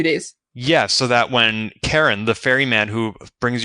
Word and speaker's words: Charon: called an able for Karen well I sent you the link because I had to look it up too and one we both had the pronunciation wrong it is not an oal for Sharon no um but that's